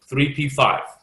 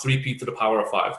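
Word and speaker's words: 3p⁵: the piece of showers this is pronounced 3p5 not three P to the power of five simply 3p5 okay means five electrons deep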